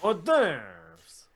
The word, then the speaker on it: hors d'oeuvres: grade school, I had to read the word hors d'oeuvres, which is a hard enough word to read. It's H-O-R-S space D apostrophe O-E-U-V-R-E-S. Too many damn vowels. Yeah, hors d'oeuvres. And they pronounced it horse doovers.